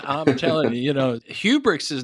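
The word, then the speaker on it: Hubregtse: want to introduce my guest for today kyle hubrics kyle did i say that correctly that was pretty good okay because it spelled like we'll spell your last name so it's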